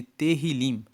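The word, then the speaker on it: Tehilim: No hebraico, no livro original da Bíblia, eles chamam o livro de Salmos de Terrilim. Se escreve T E H I L I M, que quer dizer louvores.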